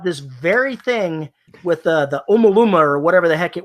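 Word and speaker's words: ʻOumuamua: We were talking about this very thing with the Umaluma or whatever the heck it was that went around the sun. How are you pronouncing? However you pronounce that. Oumuamua.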